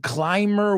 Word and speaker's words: climb: heard it all so the word is climb escarar c-l-i-m-b knows okay it's not supposed to be there they put it in